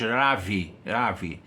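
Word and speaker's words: רבי: Ainda que nós pronunciamos Ravi, O beit aí tem som de veit no hebraico, tá?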